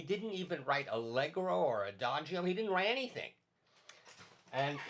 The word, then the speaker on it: adagio: slow word would be adagio yeah some people in america say adagio adagio but in italian it's really adagio and that means very